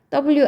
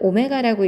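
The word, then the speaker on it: ω: 그래서 주어진 식 자체가 굉장히 많은 힌트, 즉 2개 이상의 힌트를 담고 있는데 우선은 이렇게 나와 있는 식은 반드시 한 헉은 W 아니고요. 오메가라고 읽습니다.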